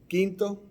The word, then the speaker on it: Quinto: How do you pronounce it again? Quinto, which is fifth.